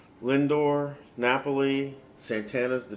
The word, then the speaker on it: Lindor: us I think it's house his name is pronounced Lindor Napoli Santana's the D H Ramirez is in